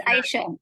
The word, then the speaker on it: Aisha: Aisha, like Aisha baby.